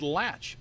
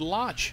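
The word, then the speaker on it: Laatsch: actually i asked daniel i asked daniel how do you pronounce your name you said latch double a and but you can say whatever way you want i said how does your dad pronounce his name he said lodge okay i said daniel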